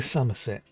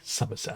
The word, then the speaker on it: Summerset: on that one but generally the way it's pronounced is summer as in s-u-m but it's spell s-o-m i think now i'm